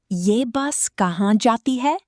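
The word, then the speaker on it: ये बस कहाँ जाती है: Ask, Ye bus kahan jati hai? Ye bus kahan jati hai? That means, "Where does this bus go?" Pronounce it, Ye bus ka han ja ti hai.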